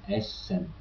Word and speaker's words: Essen: When you spell a double S, you pronounce it with a soft sound, like in Essen.